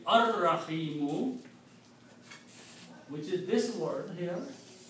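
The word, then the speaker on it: الرحيم: And when you pronounce it, will be ar-Rahimu, which is this word here.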